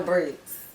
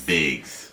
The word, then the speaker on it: Biggz: now who is Joe Briggs Joe you keep saying my name it's bigs oh Joe bigs I